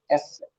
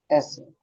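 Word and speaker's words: ß: इस beta symbol को कैसे प्रोनाउंस करेंगे? एस सेट। एस सेट।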